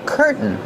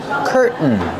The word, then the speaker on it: curtain: Pronunciation curtain. We have two pronunciations. You can pronounce the T and say curtain. Curtains. Or you can use the stop T. Curtain. And then link to the N sound.